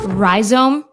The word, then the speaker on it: Rhizome: that won't break the bank let's dive in ryome is that how you pronounce it correct uh it's a definition it's